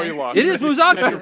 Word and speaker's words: Musacchio: It is Musacchio. wrong. So I have to emphasize the Musacchio. yes. Ah, Manuela Musacchio. The emphasis is on the second syllable.